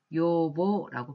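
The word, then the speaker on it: 養母: 그에 반해서 양어머니, 양모라고 할 때는 양모라고 한자를 쓰고 요보라고 발음을 하시면 되겠습니다.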